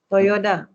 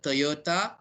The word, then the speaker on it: Toyota: So you're saying is Toyota. Toyota. Okay. Not Toyota. Okay, Toyota. Okay, not Toyota or Toyota, is Toyota. Okay, correct. Now, I have a question just now from Masai.